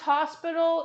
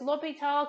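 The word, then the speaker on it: L'Hôpital: you want it's rarely it's really not pronounced hospital even though it looks like hospital it's l'hopital because the guy is french so and also it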